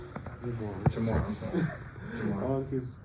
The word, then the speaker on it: Jamarr: Jamar, I'm sorry. Jamar. Oh, he's getting my name wrong.